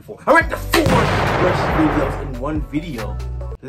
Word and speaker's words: Rustage: Yes, as always, it's pronounced Rustage.